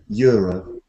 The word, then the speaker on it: Euro: every Millions lottery Euro when we speak in English we say y Euro yeah how do you say that um how do you say Europe in your language ero yeah we don't start with that sound we start with a y like University European Euro yeah yeah I know